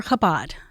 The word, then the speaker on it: Chabad: rabbis and they probably have questions so you're kabad and that's spelled c h a b a d kabad